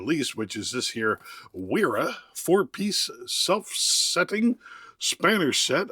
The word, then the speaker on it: Wera: which is this here, Wira fourpiece self setting Spanish set. I think that W you're supposed to pronounce with a V sound.